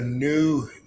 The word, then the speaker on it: Knew: It's called the New Network. The New Network. But it's spelled KNEW. Oh, like I knew.